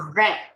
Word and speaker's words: wreck: The wreck. The wreck. Yeah, when they write the word, they include the W letter, but when you pronounce the word, you don't pronounce the W letter.